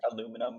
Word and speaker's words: aluminum: And it's pronounced aluminum, by the way. No, no. British English, it's aluminium. That's British live. It's actually spelled different. It's aluminum in the States and aluminium in the UK.